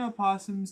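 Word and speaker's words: opossum: Uh, good evening Virginia apossums and people who pronounce a possum properly. Curses upon those who pronounce the O.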